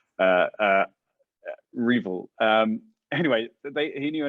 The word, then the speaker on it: REvil: about how our evil our evil by the way apparently is the official way to pronounce uh uh revel um anyway they he